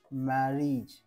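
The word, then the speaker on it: marriage: ते जेव्हाही स्पेलिंग मध्ये जेव्हाही स्पेलिंग मध्ये ए जी आणि इ हा येईल येईल त्यावेळेस त्याचा उच्चार इथे काय करायचा आहे इज इज कसं समजून घ्या बघा मॅरेज मॅरेज अगोदर मी तुम्हाला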